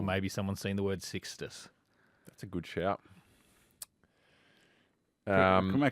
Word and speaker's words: Sixtus: Spell it again. Six. Yep. Tus. Tus. Tus. Sixtus. As I said, Sixtus.